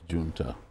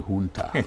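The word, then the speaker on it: junta: And at the end of the day, the military juna, how did you say is pronounced? Ha. Military hunter.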